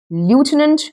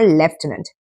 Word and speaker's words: lieutenant: When you talk about left tenant when you pronounce F also then that's the pronunciations attributed to UK and India and when it comes to American pronunciation that's lieutenant as well. All right. So leftenant is UK and Indian pronunciations and lieutenant is the American pronunciation.